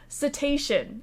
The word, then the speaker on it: cetacean: Cetacean, as in crustacean, as in anything that ends in C-E-A-N would be shun.